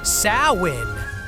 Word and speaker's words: Samhain: Long before pumpkin spice took over, the Celts marked the end of harvest with Samhain, pronounced Samhain.